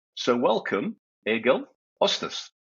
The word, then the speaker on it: Østhus: Ostas. Thank you. And I'm so impressed by how close to Norwegian you pronounce my name.